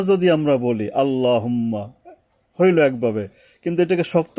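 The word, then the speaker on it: اللهم: অর্থাৎ মোটা করতে গেলে বাংলায় আকার উচ্চারণ করা যাবে না। তাহলে অক্ষরটা হালকা হয়ে যায়। যেমন লক্ষ করুন আল্লাহুম্মা যদি আমরা বলি আল্লাহুম্মা হইলো একভাবে।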